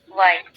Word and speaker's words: why: why, ওয়াই। এইচ বাদ দিলাম, which. এভাবে উচ্চারণ করতে হবে।